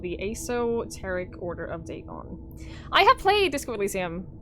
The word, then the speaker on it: Dagon: Legend of Dagon fish God that's how you pronounce it Dagon Dagon was the main deity of the Philistines